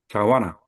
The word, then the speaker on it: 자완나: 속행에는 속히 아음 속히 아는 것 속행 속행에는 속히 아는 것 어 속히하는 것 자완나 발음은 자완나랍니다.